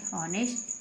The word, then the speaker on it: honest: ऐसे होते हैं जिनमें एच साइलेंट रहता है, छुपा हुआ रहता है। तो HOUR हावर, HONOR ऑनर, है ना। एच को ए पढ़ रहे हैं, HONEST, तो क्या बन गया, एच को क्या पढ़ेंगे, ऑनेस्ट, क्या पढ़ेंगे, ऑनेस्ट।